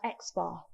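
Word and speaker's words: x̄: So the X with the little bar across signifies the mean, and we pronounce this as X bar.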